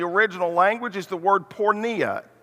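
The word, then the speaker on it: porneia: there in the original language is the word pornea it's spelled p-o-r-n-e-i-a we get our word pornography from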